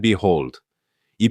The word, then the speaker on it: behold: 강세가 뒤에 있고 발음도 호가 아니라 호우입니다. 그리고 억양은 이렇게 됩니다.이 예문에서 and behold이 표현은 여기 보아라.